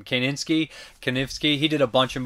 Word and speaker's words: Kanefsky: Kanefsky.